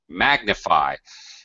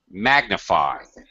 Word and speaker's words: magnify: Okay, now it's magnify. It almost acts as a secondary stress. Magnify. Secondary unstressed. Secondary stress syllable, yes. Yeah, because it goes low.